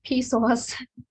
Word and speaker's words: PSOAS: Like most of us live in SOAS, or as I pronounce PSOAS companies housing.